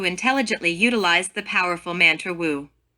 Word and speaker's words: Wu: utilize the powerful mantra wu this mantra is pronounced like a w and wisely imitates the